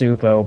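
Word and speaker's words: Csupo: I think it's just Supo, but I refuse to say that. Because Supo sounds weird.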